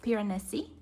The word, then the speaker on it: Piranesi: It's called Piranesi, that's how I pronounce it anyway, but it's by Susanna Clark.